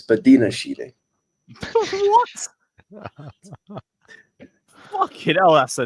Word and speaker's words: Badiashile: high line with Silva, Badiashile, and Disasi, and wondered why we got battered all game. oh, Now, say, don't remind me. now, say his name correctly. It's not Badia Shile, it's Badina Shile.